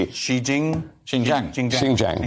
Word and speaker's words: Xinjiang: I I've never heard of it so I'll spell it for you x-i-n-j-i-a-n-g XI Jing xinjiang xinjiang right okay so there has been protests